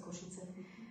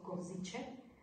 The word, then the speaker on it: Košice: Sice som musela robiť kurzy, jazykové kurzy, ako sa Košice vyslovujú, pretože väčšinou vyslovujú ako Koziče, Máriu Bartusovu ako Máriu Bartušovu.